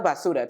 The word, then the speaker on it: basura: I like basura too, but what is that? That's Spanish. That means trash. Like basura. Basura. Basura. Oh, I thought it was basura.